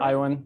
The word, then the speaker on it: Iwen: So it's a pleasure to introduce Mark Iwen or Iwen. I don't know how Iwen, you yeah, pronounce sure. it. Iwen works.